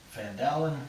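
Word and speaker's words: Phandalin: thumbs and what up it was called fan fan Dowlen which is spelled PHA and da li n it's an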